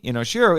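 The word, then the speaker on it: Inoshiro: to pronounce it properly inos Shiro isn't necessarily wrong there are video and interviews with Honda where people use inos Shiro and he's fine with it so it's possible he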